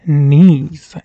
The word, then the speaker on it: Neez: This is Neez, and that's spelled N-E-E-Z.